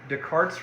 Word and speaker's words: Descartes: descartes rule of signs so you pronounce this descartes renee descartes french mathematician came up with this